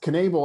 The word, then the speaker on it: Knebel: how to pronounce that last name but it's knable i know is how to pronounce i just can't remember the first name